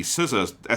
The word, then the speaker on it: SZA: opening credits with the SZA SCA song. I actually realize I don't know. Is it like RZA or is it said SCA? I think it's pronounced SZA out loud.